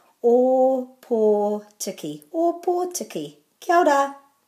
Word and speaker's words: Ōpōtiki: today for oppo teki so you've got two o's with macrons so they're o and or and then tikki o tikki or poor tikki not as it's commonly pronounced a podiki or poor tikki or poor taki kyoda